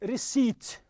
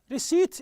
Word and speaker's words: receipt: you don't pronounce the city the P you say receipt receipt is on Fedora refund now